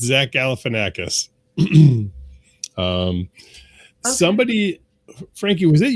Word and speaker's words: Galifianakis: Is that how you pronounce it? Because I've been saying it totally different. Yes, it's Zach Galifianakis.